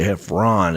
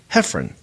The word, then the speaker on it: Heffron: Some people mispronounce it and say Heffron. It's actually Heffron.